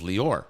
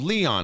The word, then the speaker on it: Leor: that felt very comfortable my name is Lee or right that's not a common American name no one knew how to pronounce it so in school day